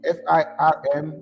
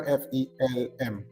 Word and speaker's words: FELM: And why are you pronouncing it as FIRM instead of the conventional FELM?